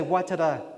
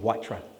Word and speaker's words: waiata: Step 3, pronounce correctly in front of friends and family. Because I said to a friend, I'm going to Waiata. Oh my God, you Maori lover. Are you one of them now? I suppose you've got a green soap and a rope around your neck too? Step 4, be authentic. Don't say Waiata on the marae and Waitra at the Rotary Club.